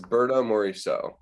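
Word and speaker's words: Berthe Morisot: It's Berta Morisot. That's how I'm told it's pronounced.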